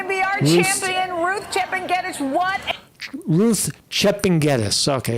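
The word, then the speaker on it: Chepngetich: So this is let's jump right to the Ruth Kipnichek. Kipnichis, I don't know how to say her name. You got it, Carrie. Here is going to be our champion, Ruth Chepengedich.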